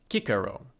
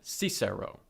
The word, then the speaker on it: Cicero: Moreover, these terms are pronounced following the mainstream scholarly reconstruction of classical Latin. Servus is thus servus, Asia Minor is Asia Minor, and Cicero is pronounced Cicero rather than Cicero, as common in English.